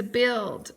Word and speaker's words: build: has a short two build has a long U with a UI but it doesn't say bu it says build so it doesn't have that long u sound so it's going to